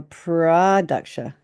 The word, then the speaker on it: Pradaksha: He said Nama Pradaksha. So he emphasized the Pradaksha.